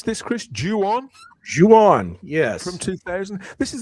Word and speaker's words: Ju-On: Is that how you pronounce this, Chris? Ju-On? Ju-On, yes.